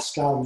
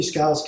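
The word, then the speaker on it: Skale: And with time, there's new scales coming online that you can use. So this is called scale spelled with a K, S-K-A-L-E.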